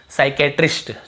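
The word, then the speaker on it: psychiatrist: साइकेट्रिस्ट, ठीक है, साइक्रेस्ट।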